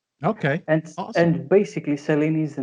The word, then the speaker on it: Selini: Selini, yeah. That's how you can say it, yeah. Okay. And awesome. And basically Selini is the name of our moon.